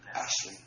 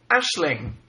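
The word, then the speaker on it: Aisling: I'm such a terrible It's an Irish name. And it's pronounced Ashling. Ashling.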